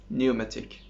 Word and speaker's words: pneumatic: P is silent in English? No. It is. Psychology. Pneumatic.